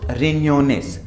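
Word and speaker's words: riñones: Loss रिन्योनेस, रिन्योनेस, because ये एन्या है, ये वाला एन है, ठीक है, एन के ऊपर ये है, एन्या है, ये एन्या, ठीक है।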